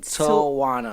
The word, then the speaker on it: Tujuana: They don't know how to pronounce it, so that's how you pronounce it. Tujuana. There we go. Like marijuana.